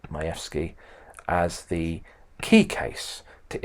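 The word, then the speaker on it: Majewski: and I put there the case of mayki that's how we pronounce it mayki as the key case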